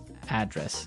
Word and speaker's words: address: live Y and there the stress is on the first syllable address right perfect very good okay